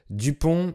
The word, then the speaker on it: Dupond: forment presque une seule, Dupont et Dupont. Alors comme vous le savez, les consonnes à la fin des mots en français sont muettes, et le nom de